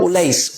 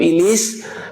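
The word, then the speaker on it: Ullais: Battle of Ulais. Ulais. O-L-A-I-S. Battle of Ulais. Minsan, binibigkas nila Battle of Ilis.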